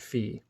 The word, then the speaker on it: Phi: back raised his hand that's the number fee he pronounced it fee nice job stetner Langdon